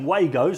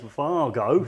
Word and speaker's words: Wago: And for all of those people that are saying Wagos, I'd just like to say it's Fargo. So you've been saying it wrong.